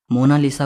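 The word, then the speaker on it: Monna Lisa: सही स्पेलिंग यह है कोई इसे मोना लिसा कहता है तो कोई मोना लीजा कहता है लेकिन इटालियन में इसकी करेक्ट प्रनंसीएशन है मोनालीसा इसका मतलब होता है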